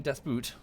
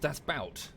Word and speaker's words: Das Boot: was like how cool is that stop saying death boot why how do you pronounce it people is that not how it's